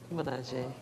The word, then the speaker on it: Milaje: Milaje. Okay, cool. I'm not going to say it again because I'm going to mispronounce it.